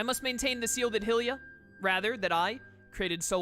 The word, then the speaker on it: Hylia: long as i'm able i'm pretty sure her name is pronounced hylia by the way because it's like hyrule and hylia but helia just sounds